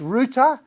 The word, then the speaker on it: Roothy: because Ruth is a Viking name, it's actually pronounced Roothy, but now I've said that, you're all going to forget it, all right?